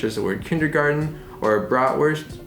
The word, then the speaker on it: bratwurst: the word kindergarten or bratwurst now granted in german you would say broad versed because the w has like the english v sound and in american we say bra worst but it's like the